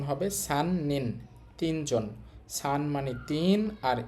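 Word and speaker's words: 三人: একত্রে বললে উচ্চারণ হবে সান নিন, তিনজন।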